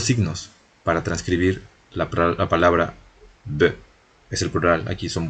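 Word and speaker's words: bœufs: Nosotros vamos a hasta pronunciar la F, vamos a pronunciar la S, vamos a pronunciar B, cosas así. Y son solo dos signos.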